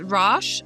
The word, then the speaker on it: Rach: it the way we think those names are pronounced. Not in Irish. Good point. Um, so it's Rash.